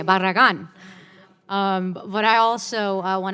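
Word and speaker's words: Barragán: my friend from texas for first of all pronouncing the name right that was pretty darn good it's as close as i say barragan but i also i want to thank you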